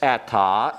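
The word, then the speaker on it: עתה: This atta is the word now. Pronounced the same. Notice the distinction. But it is spelled differently. It has an ayin, not an aleph.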